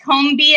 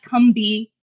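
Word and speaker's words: Combee: He mispronounced Combi as Cumby.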